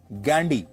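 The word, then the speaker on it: Ghandy: फिरोज गांधी के पिता का नाम था जहांगीर फरदून गैंडी। अंग्रेजी में वह गांधी नहीं गैंडी लिखते थे जिसकी स्पेलिंग है जी एच ए एन डी वाई गैंडी।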